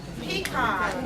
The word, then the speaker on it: Picon: Who was Molly Picone? Molly Picone, I'm saying it right? Pecan, okay, good, better way.